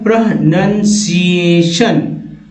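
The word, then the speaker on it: pronunciation: Word क्या है इतना लंबा और इसे कैसे उच्चारण करेंगे, तो ये वर्ड है दोस्तों इस तरह से बोलेंगे प्रोनंसिएशन।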